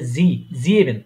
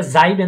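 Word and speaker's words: sieben: যে ই তারপরে এ ইয়ে ঠিক আছে তাইলে জি ইভেন এটা জাইবেন না হয়ে জি ইভেন হয়েছে তাই না জাইবেন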